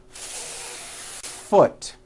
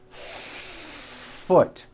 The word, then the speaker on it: foot: you need to do first think of the word is having two beats one to hold the F sound for the first full beat foot like that do it again foot do you see how